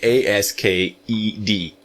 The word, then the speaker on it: asked: it's very interesting because we are writing a-s-k-e-d but the pronunciation is not an ed it's really the sound of a t asked so go very very